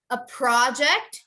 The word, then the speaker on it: project: next to a project that the noun is correct the noun is perfect a project you want to emphasize the pro you want to go